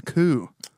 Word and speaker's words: coup: the thing the coup it's a coo that's around it's a coup i love how coo is spelled coop idiots it's just one